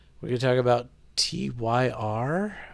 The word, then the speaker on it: Tyr: Bloody Sabbath Sunday we're going to talk about tyr how do you say that tier oh her bit wants me to point out